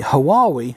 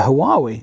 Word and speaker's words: Huawei: than last month but the hawaii inverter why we if that's how you'd like to pronounce it generated less than last month so proportionally the huawei inverter isn't producing the